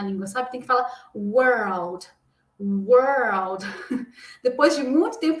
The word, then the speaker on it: world: Mundo em inglês dizemos world. World. Por que, que a pronúncia confunde? Porque quando chega aqui nesse RLD, a gente tem que dar uma enrolada com a língua, ó.